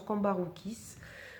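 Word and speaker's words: Cambourakis: Alors c'est de Anna Cavon et c'est aux éditions, je ne connaissais pas cette maison d'édition, édition Cambaroukis, comme ça se prononce, Cambaroukis.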